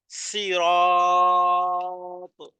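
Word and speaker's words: صراط: হতে পারে সিরাতাল্লাজি সিরাত সদ দিয়ে যখন পড়বেন তখন হবে সিরাত তার মানে সহজ না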